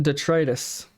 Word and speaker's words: detritus: word while detrius is incorrect the word is pronounced detritus detrus is a term used used to describe